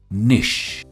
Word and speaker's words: niche: इसकी प्रोनाउंसिएशन बहुत ही सिंपल है, निश।